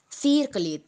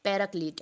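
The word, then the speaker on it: فارقلیط: یا مدد دینے والا۔ اس کا دوسرا تلفظ جو ہے فیر کلید، ٹھیک ہے، فیر کلید ہے، اور یونانی تلفظ پیراکلیٹ ہے، اس جس سے مراد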